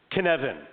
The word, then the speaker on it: Cynefin: Okay, Cynefin, and it does not look like it sounds. The word, it's like it's weird, isn't it? C-Y-G. Yeah, Cynefin. It's like Kevin with an extra syllable is what it is.